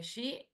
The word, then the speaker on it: Xi: Que se escribe X-I. ¿Sí? Bueno, Matías, gracias por avisar. ¿Cómo se pronuncia tu nombre? Xi, no sé cómo se es X, I.